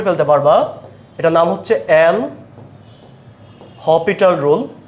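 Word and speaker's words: L'Hôpital: পারবা এটার নাম হচ্ছে এল হপিটাল রুল এখানে এস এর উচ্চারণটা হবে না এল হপিটাল রুল হ্যাঁ লিমিটের যেকোনো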